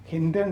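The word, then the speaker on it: Hindon: അവിടെ ഇത് എത്തിക്കൊണ്ടിരുന്നു അതുകഴിഞ്ഞാണ് ഗാസിയാബാദിലെ ഹിന്റോൺ എന്നാണ് സ്പെല്ലിംഗ് എങ്കിലും ഹിന്റൺ എന്നാണ് ഉച്ചാരണം ഹിന്റൻ വ്യോമതാവളത്തിൽ എയർഫോഴ്സിന്റെ താവളമാണത്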